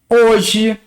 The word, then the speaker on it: hoje: O H no português, quando começa uma palavra, ele é mudo. Ele não é pronunciado.